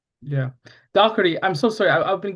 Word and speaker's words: Daugherty: this way, but um I was raised with the Irish pronunciation. So, I'm going to try to do this. Um, if you have an Irish accent